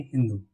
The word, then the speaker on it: हिंदू: ये लोग स को हा कहते थे। क्या कहते थे? स को हा। स को हा कहते थे। तो इस तरह से अगर सिंधु को प्रोनाउंसिएशन क्या होगा इनका? सिंधु का प्रोनाउंसिएशन करेंगे हिंदू।